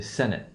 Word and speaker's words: Senate: Like a word like le Sénat, we're going to say Senate. We're going to have the 1O stress pattern.